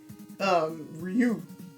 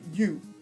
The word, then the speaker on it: Ryu: Like, you learn his name, Ryu, or Yu, as is pronounced correctly, Yu Hayabusa. And they tell you, like,